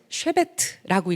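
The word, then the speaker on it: שבט: 지금 히브리어를 보실래요 자 한규 어떻게 읽죠 쉐베트라고 읽죠 똑같은 단어가 홀이라고 번역이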